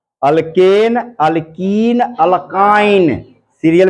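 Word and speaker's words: alkyne: ठीक है, स्पेलिंग पे, उच्चारण पे ध्यान दीजिए। अल्केन, पहले एन बोल रहा हूं, फिर इन, ए बोला पहले ए, फिर ई, फिर आई। अल्केन, अल्कीन, अल्काइन, सीरियल में याद कर लीजिए इसको।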